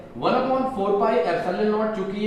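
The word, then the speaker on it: epsilon: बहुत सारे बच्चों को इसका सही करेक्ट प्रोनाउंसिएशन नहीं पता होता। इसका करेक्ट प्रोनाउंसिएशन क्या है, इसका नाम है एप्सिलॉन। चूंकि यहाँ 0 लगा हुआ है तो इसलिए इसको हम क्या कहेंगे, एप्सिलॉन नॉट कहेंगे, ठीक है ना।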